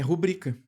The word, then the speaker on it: rubrica: A sílaba forte vai cair aqui, ó, no bri. Portanto, que palavra é essa? É rubrica.